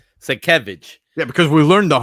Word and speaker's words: Sienkiewicz: Sekevich. Yeah, because we learned the hard way. I Yeah.